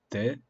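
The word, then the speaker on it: 的: Well, there's 3 characters like no. And they're all pronounced de.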